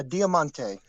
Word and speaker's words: Diamante: the type of guy that knows how to pronounced Demonte yeah Diamante Diamante perfect um I thought it was great